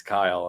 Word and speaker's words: Kiel: But the fact that my name is spelled Kiel and it's Kyle and helping Oh, that yeah.